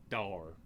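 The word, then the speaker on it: daor: And no is Daur. Door. Daur. Dour.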